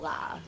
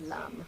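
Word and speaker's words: लं: heard it, orpiment, and contains the syllable la. I've also heard it as lam, which we'll do today.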